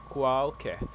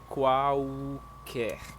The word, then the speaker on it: qualquer: Qualquer. Qualquer. Yes, exactly. Qualquer. Because this letter L in Portuguese has U sound. So, imagine there is another U there. So, qualquer.